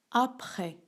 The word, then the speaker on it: après: prononce pas le thé après à près ici aussi on ne prononce pas le s donc avant maintenant après